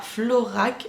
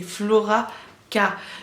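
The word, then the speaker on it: FloraK: quand même à préciser au niveau de la prononciation de mon pseudo c'est pas florac c'est flora cas d'où le poids au milieu entre le flora est le cas les comptes d'un style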